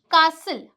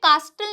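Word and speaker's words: castle: जाएगा साइलेंट हो जाएगा जैसे कि कासल अब इसे कास्टल नहीं बोलते हैं ये भी बहुत से लोग गलत बोलते हैं यहां पे जो हमारा टी है वो साइलेंट है चुप बैठा है ठीक है वो कुछ नहीं बोल रहा है तो यहां पे कास्टल नहीं होता कासल होता है यहां पे ब्रिस्टल नहीं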